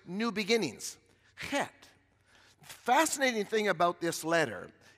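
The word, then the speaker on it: חית: Because in English, we would say Chet, but that's not how you say it. It's got to have a little guttural in it, but not too much.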